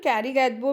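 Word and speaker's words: Karigadabu: Children, Kari Gadabu means Kariga Dabu. It means, actually it is pronounced as Kariga Dabu.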